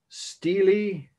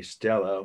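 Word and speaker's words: stele: Steely, or some would say Stella, but that sounds like a character from Streetcar Named Desire, but that play, some of you may know, or the movie version. Spelled the same way as the woman's first name, S-T-E-L-A. Steely is how it's pronounced, of Hammurabi.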